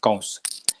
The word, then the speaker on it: Kamsa: king was evil and his name was kausa k-a-m-s-a kamsa kamsa is the way it's spelled but it's pronounced cows so during the wedding of dev ki and